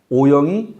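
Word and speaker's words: 惡: 인도는, 요거는 사람 간의 인간관계에서는 오영이 호겸 하나님. 요 글자. 예, 저게 아카락자인데 여기서는 발음을 오라고 합니다. 미워할 오.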